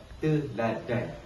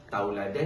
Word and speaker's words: teladan: Yang betulnya adalah sebutan teladan. T E kita N d a n dan teladan. Jadi dekat sini saya melampirkan dua daripada segi kesalahan ejaan mahupun kesalahan tatabahasa. daripada segi kesalahan ejaan seperti yang kita katakan tadilah tauladan dan teladan t u ataupun t jawapannya adalah te teladan tapi daripada segi tatabahasanya